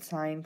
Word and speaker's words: sine: The first one is sine. The second one is cosine, and the third one is tangent. Now be careful that you don't pronounce this as sin, as it is sine, cosine, and tangent.